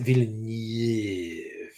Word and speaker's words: Villeneuve: So you pronounce it Villeneuve.